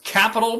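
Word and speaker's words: Qapital: available on both platforms one is capital but spelled with a q q a p i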